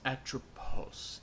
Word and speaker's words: Atropos: you want to call them his name is atropos a r o p s yeah that sounds